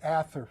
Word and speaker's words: Ather: They dropped the H and they added an S so they could say the T, and it became Aster. Actually, it was Ather. I'm sorry, A-T-H-E-R, Ather. That's how they pronounced Hathor.